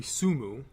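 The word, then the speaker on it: 積む: talking about tsumtsum and the japanese word is not su it's actually su mu that means to stack that comes from there's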